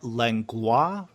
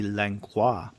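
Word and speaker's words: Langlois: and this is lengua from Quebec and I'm not sure if I'm pronouncing your name correctly um it is l-a-n-g-l-o-i-s so since he's living in Quebec I guess it might be lancois but email me and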